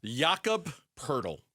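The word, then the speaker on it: Jakob Poeltl: Yakob Purle. Purle rhymes with turtle.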